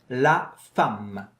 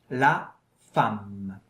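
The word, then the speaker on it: la femme: text in the context and the first word is laam lam. Yeah. Look carefully at my lips when I pronounce it and try to do the same.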